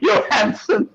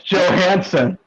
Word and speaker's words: Johansson: it's true we just don't have said Johanson yanson I'm sorry that how was I supposed to pronounce her name it's Joe Hanson she's not from Denmark wait